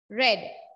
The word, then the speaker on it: read: i read the lesson the past tense of read is read the spelling remains the same red but the pronunciation changes okay yes i read the